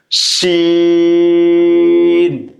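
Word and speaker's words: ش: দাল, রাল, র, ঝা, সিন, শিন।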